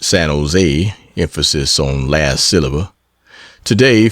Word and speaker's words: San Jose: Been down to San Jose, generally pronounced San Jose, emphasis on last silver.